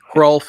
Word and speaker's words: Hrulf: Hrulf is spelled Hrulf. You pronounce the H.